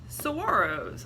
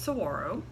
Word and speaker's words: saguaro: this morning we're gonna talk to you about saguaros a lot of you probably think that that giant cactus that mostly lives in Arizona is called a Saguaro but is actually pronounced sorrow so first lesson of the day and I